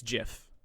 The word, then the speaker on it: GIF: court austin andrade on behalf of jeff it's jif okay looking back at our timeline in june 1987 steve wilheit released the graphics interchange format while working for compyserve and he called it jiff did i not just say that why are